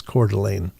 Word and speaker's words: Coeur d'Alene: And that's how you That's how you pronounce that is is Coeur d'Alene.